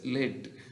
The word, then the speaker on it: lead: So he led the group, L-E-A-D only, but pronounced as led.